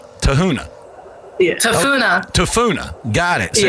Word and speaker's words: Tafuna: Tafuna.